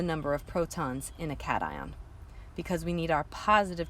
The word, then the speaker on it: cation: I know based upon our English language, when words end in the letters T-I-O-N, we're supposed to pronounce it shun. However, because we're talking about an ion, the root here is just that, ion. And what comes before it is the word cat. So we pronounce it cation.